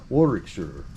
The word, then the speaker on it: Warwickshire: see you know in in america we would pronounce it shire but i don't think it is in proper english i think it's sure right warrick sir awesome lovely part of